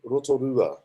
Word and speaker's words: Rotorua: I'm born in a town called Rotorua.